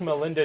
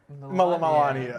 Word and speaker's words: Melania: Wish Melinda Trump a happy birthday. Melinda? How do you say Melania? Melania. Melania, fuck, okay.